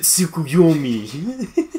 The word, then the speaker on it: Tsukuyomi: Infinite Tsukuyomi.